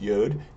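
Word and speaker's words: יוד: started first we have yud or sometimes yod pronounced yod it is the Y it looks like an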